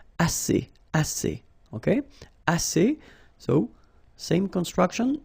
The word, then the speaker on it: assez: Assez means enough. Okay? Assez. Remember, two vowels here, a and then e, and then double s. So it's really strong, the s. Assez. Assez.